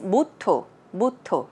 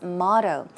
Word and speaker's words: motto: a motto i think the korean version of pronunce pronouncing the word is mutto right okay next time you want to say butto try saying motto okay it's not moto it's motto so basically a motto could